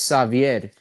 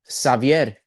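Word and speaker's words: Xavier: Hey, but I pronounce it in Spanish. It's Savier.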